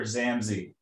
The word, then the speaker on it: Zammsy: the chronicles of zamzy and i am i pronouncing it right say it for me it's it's called the chronicles of doctor zamzi zamzi zam um i got the idea back